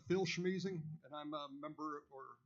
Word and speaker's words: Schmiesing: It's Phil Schmeezing, and I'm a member or a resident of the Cotton Creek Homeowners Association, live in Cotton Creek. Could you spell that name? Schmeezing, that's SCHMIESING.